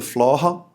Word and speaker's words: Flore: que se chama Flora, na verdade a pronúncia é Flora, mas Flore, escrita em occitano, que é a língua